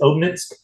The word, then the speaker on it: Obninsk: You have, I think it was Obninsk. Is that how I pronounce it? Obninsk.